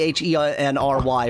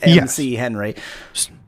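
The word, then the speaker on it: Chenry: Henry that's definitely like the surname c h e n r y pronounced Henry not Tom MC Henry or Machinery he he owns machine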